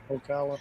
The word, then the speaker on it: Ocala: Ocala.